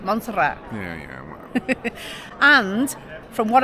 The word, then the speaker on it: Montserrat: original oldest part of monsterra up here yeah and the plaque above that Archway is the plaque or the sort of symbol of monsterra monster Mon it's monat that's how you say it monat yeah yeah and from